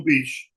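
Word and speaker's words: Pesce: P-S-C-H-B. Means fish, like Pesci. But they call it Joe Beach. P-E-S-C-H-E. Like it would say, it's fish in Italian.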